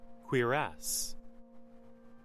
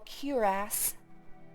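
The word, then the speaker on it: cuirass: Quiras. Okay, so you were right. He literally just says queer ass. Queer ass. Queer ass. Queer assass. Uh, apparently there's an alternate pronunciation that's also acceptable. Curass.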